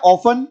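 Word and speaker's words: often: silent है अगला है ओपन ओपन में टी साइलेंट होता है इसका मतलब होता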